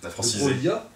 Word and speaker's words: Broglie: Ça se prononce de Broglia, de Broglia, parce que c'est un nom piémontais, et le suffixe lia suit un G qui ne se prononce pas.